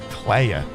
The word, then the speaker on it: Clea: I yeah, I get it's the French French pronunciation, but again, is there a double meaning through the use of how they pronounce Clea Clea? Clay.